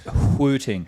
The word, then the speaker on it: Wooting: I believe it's officially pronounced hooting.